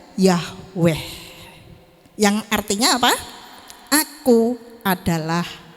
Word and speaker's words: Yahweh: di dalam Perjanjian Lama ditulis dengan kata y h b dengan huruf besar semua membaca membacanya yaitu Yahweh yang artinya apa aku adalah aku ya Aku adalah aku membacanya Yahweh nah Hai aku adalah